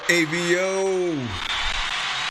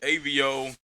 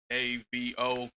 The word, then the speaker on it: Ayvio: I didn't want people to say like Avo or Avo or anything like that. So I threw the Y and the I in there so you can phonetically say it.